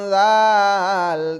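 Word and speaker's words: ذال: দাল দাল অক্ষরের উপরে এক ফোটা তার নাম জাল তার নাম জাল না করে ফোটা তার নাম জাল তার নাম জাল জাল উচ্চারণ কেমন হবে জাল উচ্চারণ কেমন হবে লাল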